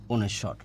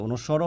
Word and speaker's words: অনুস্বার: আর ও আমি বললাম ওর নিচে হসন্ত, এইটা মানে হচ্ছে অনুস্বর বা অনুস্বার, ঠিক আছে। অনুস্বরও হয় উচ্চারণ, অনুস্বারও হয়, ঠিক আছে।